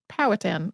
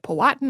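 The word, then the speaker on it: Powhatan: the colonists as potin also heard that pronounced a couple of different ways including exactly how the emphasis goes in powatan or I heard someone say it patan and I was like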